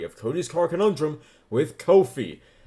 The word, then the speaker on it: Ko-fi: Cody's Car Conundrum with Ko-fi. Well, it might be coffee, but it's spelled K-O-F-I, and that's weird, so I say it Ko-fi.